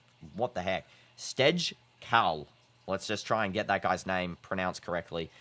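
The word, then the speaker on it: Stejskal: Cross from Mbappe, and that has to be saved by the goalkeeper, Stejkaz. What the heck? Stejkal. Let's just try and get that guy's name pronounced correctly.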